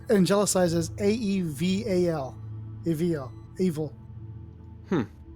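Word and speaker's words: Aeval: on her so actually if you listen to the pronunciation of the name it sounds like evil oh really yes and it's angelicizes a-e-v-a-l evil evil i'm like oh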